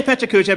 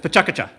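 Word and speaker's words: PechaKucha: I say Pechacucha because it feels good to me. It's Pechacucha. Yes.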